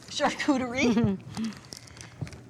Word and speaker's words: charcuterie: Tell me again how you pronounce it. Charcuterie.